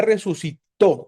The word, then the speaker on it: resucitó: O sea, Jesús ya resucitó con acento en la o porque todo el tiempo pretérito se acentúa, ¿verdad?